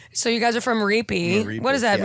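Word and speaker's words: Ripi: We're from a little village called Reapy. You spell it AP. R-A-P-E-Y. Really? No, it's R-I-P-I. Reapy.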